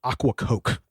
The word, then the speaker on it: Ocracoke: off the Isle of Aquacoke. It's about the best I could. Hey, sounds great. Yeah, I literally wrote it phonetically of aqua coke, like aqua water coke.